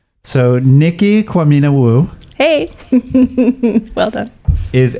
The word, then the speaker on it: Quamina: middle name ah um it's my last name kwamina kwamena my mom is gnae in jamaican and so it's uh like common to make uh ghanaian last name so nikki kwamina wu hey well done is a black and